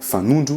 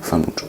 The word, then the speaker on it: fanondro: on peut prononcer le H, mais là, on prononce pas le H, inkibé, qui veut dire le pouce. L'index, on dit fanundu et pas fanondro ou fanondro, F-A-N-O-N-D-R-O, fanundru.